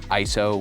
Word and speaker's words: ISO: It's actually pronounced ISO, which comes from a word isos, but I am just stuck saying it ISO.